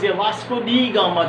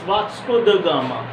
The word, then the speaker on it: Vasco da Gama: Somebody, most of the teachers, Vasco da Gama they used to pronounce, but it's Vasco da Gama.